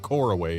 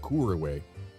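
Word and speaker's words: Couriway: So Kuriway, Kuriway, I don't know. Uh the the point is my Englishspeaking brain wants to pronounce it coraway instead of Koraway.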